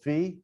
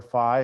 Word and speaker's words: phi: these special numbers there's another number called fee or phi it depends on people pronounce it different ways fear phi and it's it's the